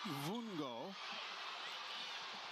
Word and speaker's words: Vungo: First name is B E N C A O Benau and the last name V U N G O pronounced Vongo.